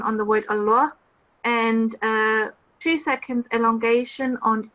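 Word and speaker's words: الله: the lamb in the word Allah would be pronounced with the thickest sound it would be Allah the other thing however was giving two seconds on the vertical Fattah um it would be Allah it's not Allah it's three seconds on the vertical strike hey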